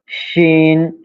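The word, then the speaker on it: شين: হ্যাঁ, তিন দাঁতের উপর তিন নোক্তা হলে শিন, আর নোক্তা না হলে সিন।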